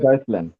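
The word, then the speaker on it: Deutschland: ওটা তো নামেই, জার্মানের নাম হলো ডয়েচল্যান্ড। এটা ডয়েচল্যান্ড ভাই, যে তে আসছে, হা তে আসছে, ডয়েচল্যান্ড, ওটা জার্মানির নামে ডয়েচল্যান্ড, আর ডাচ হলে নেদারল্যান্ড আসে।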